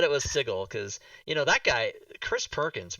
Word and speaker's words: Sigil: Chris Perkins says that the city of Sigil is not pronounced sigil, but it's Sigil.